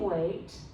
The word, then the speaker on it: weight: Okay, 要注意的是 EI 这里它是念 long A 我 A weigh. It's like you're calling someone in Chinese, you say weigh.